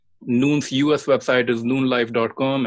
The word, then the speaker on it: Nuun: go ahead yeah you know what check out noon hydration so noon is spelt with to use instead of two O's